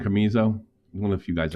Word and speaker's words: Casemiro: Camizo? One of the few guys I play. Casemiro. Casamizo.